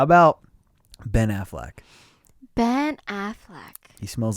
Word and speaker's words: Affleck: a-f-f-l-e yeah i but i always say ben affleck like like like as if he's the owner of aflac like with the duck and i'm like am i banana am i saying it wrong is it is it a fleck no it's definitely a